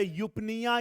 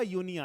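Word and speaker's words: pneumonia: नहीं था ठीक है लेकिन इसका प्रोनंसिएशन क्या होगा यूनिया लेकिन आप अगर स्पेलिंग को याद रखना चाहते हैं अपने लेवल पे यूपिया बोल सकते हैं लेकिन अगर आपसे कोई पूछे तो आपको यूनिया ही बोलना पड़ेगा ठीक है तो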